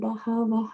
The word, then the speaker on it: bahavaḥ: So bahavaḥ. Bahavaḥ. Right? Bahavaḥ. It's not bahavaḥ. It's not bahava. Bahavaḥ. So give it your full strength here.